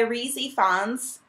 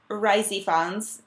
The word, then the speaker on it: Rhys Ifans: who is played by reey Fons risey Fons depending on how you say it and Queen Elizabeth